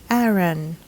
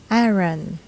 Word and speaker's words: Aaron: would say Aeron but native English speakers would pronounce this Aaron Aaron remember the proper English vowel sounds be sure